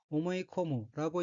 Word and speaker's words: 思い込む: 넷째 줄의 어휘는 한자가 생각사, 다물립자가 들어있고 일본어로는 오모이코무라고 읽으며 오모이코무는 깊이 마음먹다, 굳게 결심하다, 꼭 그렇다고 믿다, 믿어버리다 라는 뜻의 자동사입니다.